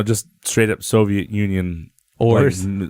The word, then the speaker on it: Auror: He's the Auror, that's how you pronounce it, right? Auror. Yeah, Auror.